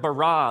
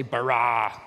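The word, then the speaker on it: בָּרָא: now the word for create is the word bara let me hear you say bara it's this forceful energetic word of making things out of nothing in the beginning elohim barad the heavens and the earth now the earth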